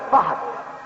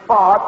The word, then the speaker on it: Fahd: They call him Professor Fahd, mispronouncing his name, which is Fahd, which is a Turkish